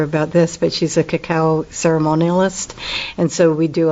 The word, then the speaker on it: cacao: Christina tell me what the heck is a cacao ceremony am I saying it right yes um